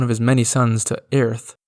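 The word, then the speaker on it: Oerth: his many sons to ath which I'm just learning now is actually more commonly pronounced oth the world of the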